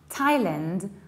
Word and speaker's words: Thailand: But this word is an exception, which means that even though it's spelled with TH, we pronounce it with T. We don't say Thai, we say Thai. And now we have two options. We can say Thailand with reduced ending, but